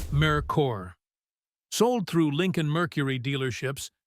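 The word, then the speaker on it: Merkur: the merker brand itself a name Americans struggled to pronounce its mercor sold through Lincoln Mercury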